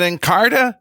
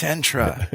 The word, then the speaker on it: Entra: Is it Encarta? No, it's Entra. Oh, well, it's Entra. Just take out one syllable and it's Entra.